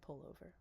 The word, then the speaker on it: pullover: the sofa wearing my pullover. and he's British, so pull over rhymes with sofa. Uh, doesn't when I say it.